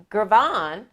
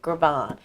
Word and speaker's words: Girvan: So, folks, I follow Carolyn Gervon on YouTube.